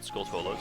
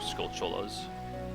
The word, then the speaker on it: Skulltulas: what those gold spiders called skulltulas or skullcholas depending on how you want to pronounce it that's normally what they